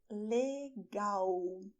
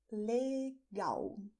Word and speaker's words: legal: "Cool", so "LEGAL". You may notice that the word begins with the same letter as it ends, but the pronunciation is different you say "LEGAL".